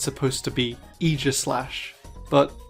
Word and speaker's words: Aegislash: I, for example, refuse to pronounce this Pokemon's name correctly. It's supposed to be Aegislash, but Aegislash just sounds so much better.